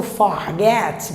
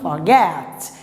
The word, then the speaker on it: forget: Não pode falar mais o forget, pelo amor de Deus, está errado. Então, forget.